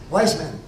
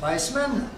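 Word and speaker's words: Weizmann: Weissman. Si vous dépensez, si vous parlez du W, mais souvent on le prononce avec le V.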